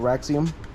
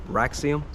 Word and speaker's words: Raxiom: Or, yeah, Raxium, I think it's pronounced.